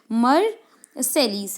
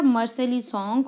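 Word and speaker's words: Marseillaise: देशभक्ति के सॉन्ग गाए जाते हैं, जिसमें से मर्सेलीस है। तो मर्सेलीस के स्पेलिंग याद करेंगे, MAR मर, SEIL सेल, L है ना, फिर दोबारा मैं एल डाल रही हूँ, ISE, MARSEILLAISC मर्सेली।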